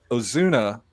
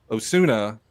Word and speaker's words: Osuna: I think it's Aleandro Ozuna. Osuna, who is actually the younger brother of Yes.